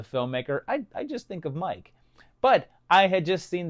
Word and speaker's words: Miike: And I know that his name is pronounced Mike, but I used to